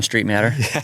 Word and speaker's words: Streitmatter: was so good to have you here John Street matter there it is you know how to say